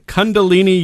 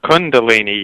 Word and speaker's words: Kundalini: has become involved in Kundalini Yoga. Am I pronouncing that right? No, it's Kundalini Yoga. What did I say? It's Kun.